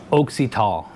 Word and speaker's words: AUXITO: Or, and they came back and said that it sounds like AUXITO.